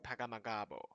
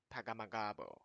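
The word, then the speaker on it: Pegahmagabow: Oh, he's Ojibwe. Okay. How to pronounce... Pegamagabo. Pegamagabo. Not true? Here, let's listen to this person how to say. Is this accurate? Francis Pegamagabo. Francis Pegamagabo. Okay. Francis Pegamagabo.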